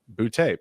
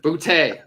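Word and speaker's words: Boutte: thing it says is bootay pronounced boo Dash capital t a y so it's all right there it is like with an explanation point at the end boote all right I like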